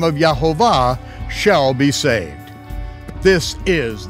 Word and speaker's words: Yehovah: at all I not Hashem not God not Jehovah not Krishna visto or Allah but according to the most ancient vocalized texts of the Hebrew Scriptures his name is Jehovah and just as a prophet yoy prophesied concerning